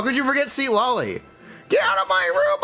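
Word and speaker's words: Citlali: haven't shown SE LLY How Could You Forget seat LLY get out of my room I'm playing Minecraft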